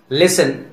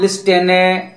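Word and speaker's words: listen: लिसन, castle, व्हिसल. यहां लिस्टेने, कैस्टेले, व्हिस्टेले तो नहीं बोलेंगे ना, बोलने में भी अजीब लगेगा और फ्लुएंसी में भी दिक्कत होगी, इसीलिए यहां टी को साइलेंट किया गया है.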